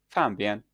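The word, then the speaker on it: 方便: This misinterpretation stems from the fact that the Mandarin word for convenient, pronounced "fanbian," encompasses a broader range of meanings, including both convenience and simplicity, and something that is nearby.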